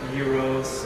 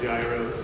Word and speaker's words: gyros: on Greek dishes like Euros or as some people call Gyros but it's euros in Greek Americans say American s